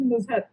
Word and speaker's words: Nuzhat: Nuzhat ma'am. I hope I'm pronouncing your name rightly. You are pronouncing it right. It's Nuzhat.